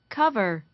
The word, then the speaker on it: cover: 자, 그다음 cover, cover, cover, cover. cover, cover, 그죠? 야, 커버 좀 해줘 이거잖아요. 그죠? cover. 뒤에 R 사운드 빠집니다. cover. 하지만 V 사운드 정확하게 하셔야죠.